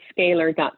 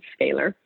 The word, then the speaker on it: Scalyr: Neal and so they can find us that scalar comm but it's spelled oddly its SCA now why our comm scaler and they're welcome to contact us right on